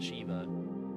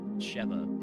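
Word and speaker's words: Sheva: It's not Shiva, Cheva.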